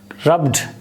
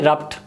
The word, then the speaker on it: rubbed: at these three words the same daw sound at the end of these words rubbed here da remains down the same door sound at the end of the word but why not why this duh sound is not changing to ta here it remains duh rubbed here you can't say rapt naturally when you try to save and try to pronounce this word you say rubbed rubbed you cannot say rapt if you try to